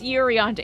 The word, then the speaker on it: Urianger: It's Urianger.